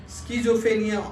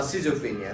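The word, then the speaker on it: সিজোফ্রেনিয়া: রোগ যেটা সেটাকে বলে স্কিজোফেনিয়া অথবা সিজোফেনিয়া দুই ধরনের উচ্চারণ হয় সিজোফেনিয়া রোগের কি হয়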